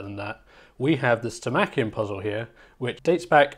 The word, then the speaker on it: Stomachion: I really want to say Stomachion, but I think the correct pronunciation is Stomachion.